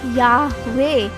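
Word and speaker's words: Yahweh: संभल कर रहते हैं इस शब्द का उच्चारण करना तो नहीं आता पर इसका उच्चारण करने के लिए हम इंग्लिश के वावेल्स का इस्तेमाल करते हैं जो है या वे यानी यहोवा जिसका अंग्रेजी भाषा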